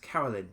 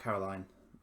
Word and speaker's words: Carolyn: It seems to be pronounced Carolyn, actually, not Caroline.